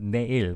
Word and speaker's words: 내일: Oh, like Yanne님 said here, it's in silent Korean, it's originally 레일. 레일, but we don't really pronounce real when it comes to a first consonant of a word in South Korean. So it became 내일.